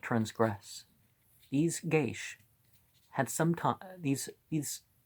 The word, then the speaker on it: geis: demeans irish dictionary explains the word guys pronounced geish plural geisha yeah wouldn't have guessed well